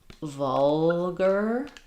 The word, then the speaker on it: vulgar: So vulgar. Um, it's like a word like burglar or um, we have